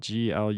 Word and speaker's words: glutenin: scientific name for gluten and then gluten in that's very confusing but that's spelled g-l-u-t-e-n-i-n it's not gluten it's a different protein called gluten in those are the two